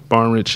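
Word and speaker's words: Barnidge: he'll score it and uh our tight end barnich is uh am I saying it right yeah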